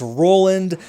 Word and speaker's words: Roland: his name Roland mckuin I was saying Ronald it's not Ronald it's none of that it's Roland mchan I was watching highlights on him it's Roland mchan so there he